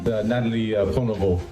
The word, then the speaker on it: Nathalie Prévost: Nathalie Prévost à Montréal.